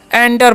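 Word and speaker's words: enter: ई एन टी तो इसे इंटर नहीं पढ़ना है क्या पढ़ना है एंटर पढ़ना है क्या पढ़ना है जी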